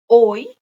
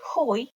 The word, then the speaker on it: hoy: a year is ajer oy that is today h is silent don't say hoy and manana is tomorrow